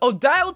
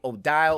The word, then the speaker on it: Odile: perfectly with the name odile or ordeal how we pronounce it basically that translates